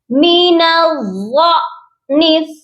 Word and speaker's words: من الضأن: ہے۔ تو یہاں پر ہم نے غاد کو لمبا نہیں کرنا بلکہ غاد کے ساتھ حمزہ کو پڑھیں گے اور جھٹکا دے کر پڑھیں گے۔ یہ پڑھا جائے گا مین الضأن، اس کے ہجے کرتے